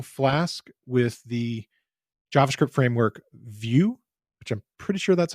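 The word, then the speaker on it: Vue: with the javascript framework view which I'm pretty sure that's how it's pronounced though I've heard it pronounced of vu but I'm pretty sure it's intended to be like a view of something it's by Jase Medlen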